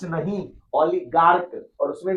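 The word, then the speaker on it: oligarch: उसके बाद है ओलिगार्क। ओलिगार्च नहीं ओलिगार्क।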